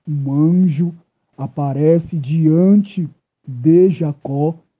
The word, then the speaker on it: Jacó: Por isso eu pronuncio o nome Jacó e não Jacó, porque no alfabeto hebraico não possui a letra J, ok?